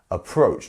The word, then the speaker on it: approach: here we have approach so we have two syllables approach and our second syllable is the one that is getting the stressed the stressed um syllable here approach not approach approach there's